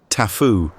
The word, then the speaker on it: taboo: unwilling to show was taboo or as they pronounced the word tafu the Maya Rya or